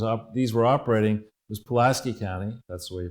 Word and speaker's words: Pulaski: this thing was up these were operating was Pulaski County that's the way you pronounce it and I've contacted the circuit board